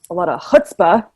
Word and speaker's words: chutzpah: takes a lot of chutzpah. Is that the right way to say it? That's the right way to say it. That was well done.